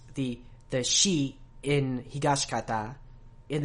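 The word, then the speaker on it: 東方: pronounce the shi in Higashikata, and they don't really pronounce the in Josuke. These are whispered vowels, and it tends to happen a lot to shi and tsu and tsu.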